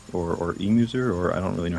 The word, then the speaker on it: Emuser: Yeah, Uh, it's Emuser. Just think of it like me trying to amuse people. oh, okay, there we go. Emuser, got it. And we have two runs from Emuser and a guy named Prales or Prales or something.